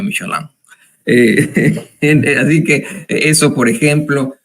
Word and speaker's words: Michelin: en el mundo eh Bueno michelino pero se pronuncia michoaland Así que eso Por ejemplo les pagamos que